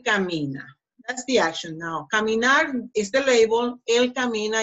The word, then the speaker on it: caminar: the action to work pronunciation caminar caminar so the last syllable gnar is the strongest one see Tammy not when